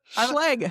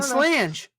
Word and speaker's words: Schlage: Is it Schlage? Schleg. I've been saying slange.